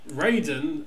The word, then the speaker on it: Raiden: Smith Ryden raen ridden it's Raiden in Mortal Kombat pronounced so I guess this is going to be our session of the show where we research which is strange because Etc yeah because Ryden it's Ryden look Mortal Kombat is Raiden twitch raing anyway it